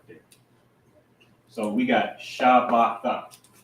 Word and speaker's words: Shabbat: How would you pronounce that? Knowing that this is a root word by itself. Shabbat. Right, Shabbat. So this word Shabbat means Sabbath or rest.